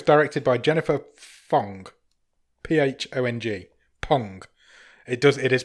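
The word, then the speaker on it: Phang: Pong. It is Pong because it says on her IMDb that it's pronounced Pong.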